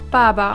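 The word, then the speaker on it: 八八: Dieser Tag wird auch Baba ausgesprochen, was auf Chinesisch so viel wie Vater bedeutet.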